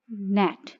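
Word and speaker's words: gnat: Ji silent, नेट।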